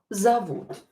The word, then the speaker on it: зовут: I used informal here, or when O is not stressed, pronounce it as A.